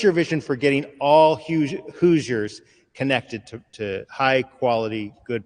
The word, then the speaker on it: Hoosiers: Is it Hoosiers? How do you say it? Yes, Hoosiers. Yep. Hoosiers? Yep. Like it's not a silent H. It's not Hoosiers, right? It's correct. Yeah. Hard H.